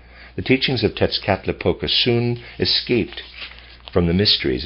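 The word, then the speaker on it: Tezcatlipoca: of tetsuka i'm gonna i don't know how to pronounce that it's spelled in here t-e-z c-a-t l-i-p-o-c-a tits cap la the teachings of tetzkatlipoca soon escaped from the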